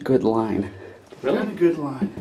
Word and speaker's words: Goodlein: Somebody told me it's pronounced good line.